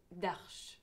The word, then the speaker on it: Darche: On le prononce Darche.